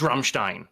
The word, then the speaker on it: Rammstein: It's not Ramstein, it's Rammstein. I went, okay, you pronounce it with a German accent, but you're saying the same word.